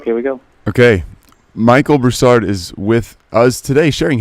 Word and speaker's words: Broussard: Say your name, the last name, the way you want it pronounced. Broussard.